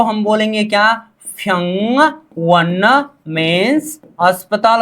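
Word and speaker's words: 병원: क्योंकि ये जब ब आगे आ जाता है तो ब का उच्चारण क्या किया जाता है? फ किया जाता है। तो व्यंगवन नहीं होता, फ्यंगवन होता है, ठीक है।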